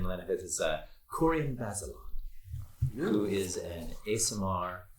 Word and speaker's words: Corian: Corian or Corin? Corian.